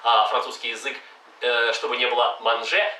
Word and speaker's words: manger: язык, чтобы не было manger, chanter, penser. Переводится chanter, manger, penser. Еще раз разница. Manger, penser, chanter. Там нет никаких «н».